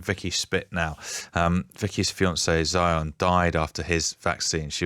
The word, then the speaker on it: Zion: Well, firstly, it's pronounced Zion. Sorry. Sorry. Everyone gets it wrong.